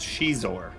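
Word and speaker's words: Xizor: And for the record, guys, it's pronounced Shizor.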